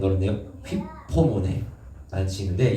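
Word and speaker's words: ὑπομονή: 그리고 참음이라는 단어가 아닌 헬라어로 휘프모네, 발음 어렵네요. 휘포모네 라는 뜻이 있는데 이 참음의 뜻이 뭐냐면 그 안에 머무르는 거예요.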